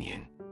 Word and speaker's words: 您: the common u, becoming yin. Is a combination of characters, with a heart added below to denote respect. In terms of pronunciation, it's similar to u, but with a rising tone towards the end, expressing a respectful attitude.